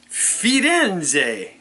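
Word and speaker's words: Firenze: many days three I spent three days there fiden and that's how you pronounce it those Italians they got a different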